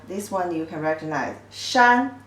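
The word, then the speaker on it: 束: means tie up or a bunch of the pronunciation is Shu Shu they came from this shape you tie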